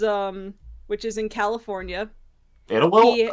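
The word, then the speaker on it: Idyllwild: which is in California itwi oh that oh that's how you pronounced I thought it was Idol wild yes he was preceded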